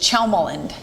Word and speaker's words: Tjelmeland: It's pronounced like CH, Chelmeland.